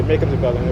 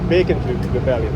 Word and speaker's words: Bacon's Rebellion: I always say it wrong. I say Bacon's Rebellion, but it's Bacon's Rebellion. That's what it is.